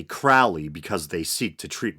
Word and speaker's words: Crowley: A lot of people pronounce it Crawley, but I think it's properly pronounced Crowley.